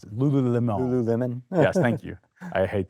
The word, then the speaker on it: Lululemon: examples of US companies, US brands, I can't pronounce it, Lululemon. Lululemon.